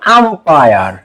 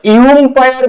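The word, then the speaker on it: umpire: এইবার তোমরা যারা ক্রিকেট ফুটবল দেখো, আম্পায়ার, হ্যাঁ, তো ইউম্পায়ার বলি এটাকে, নাকি আমরা আম্পায়ার বলি?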